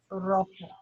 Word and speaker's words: rojo: Rojo. The J is an H. Rojo.